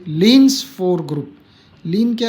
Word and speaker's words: Klein: एक very important group है ये, लीन्स फोर ग्रुप। लीन क्या है कि साइंटिस्ट का नाम है, KLEIN, है ना। लीन कहते हैं, के साइलेंट है इसमें, क्लीन नहीं कहेंगे। लीन्स 4 ग्रुप, 4 इसलिए